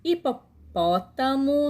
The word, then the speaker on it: hipopótamo: indo né agora aqui a letra h no início da palavra não é pronunciada eu já disse que não é pronunciada não tem som né agora nós dois observe as imagens hipopótamo não é hipopótamo jenna